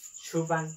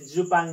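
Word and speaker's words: 주방: भन्दा फुक भन्ने भनिन्छ छुपाङ यो जुपाङ नभएर छुपाङ हो छुपाङ भनेको के हो भान्सा हो भान्सा कोठा हो।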